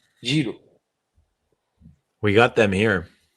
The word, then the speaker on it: gyro: Dev thank you know how to pronounce gyro correctly jro we got them here